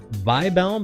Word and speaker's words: Wirbel: Sims says it's probably written Vibel because that's how Wirbel is pronounced in Japan.